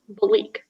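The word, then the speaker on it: Belleek: a noun the league are there any alternative pronunciations just the one bleak bleak b e l l e e k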